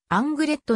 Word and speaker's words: Anglet: 水カルチャーん 2009 フランス語では語末のシーンは発音しないのが一般的であるがあんぐれっとに関しては語末の新 t を発音する http ごろん slash スラッシュ